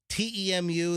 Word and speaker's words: Temu: I don't know why, some of the junk that I've heard that people get shipped from Temu, T-E-M-U, that's how you apparently pronounce it. It's Temu.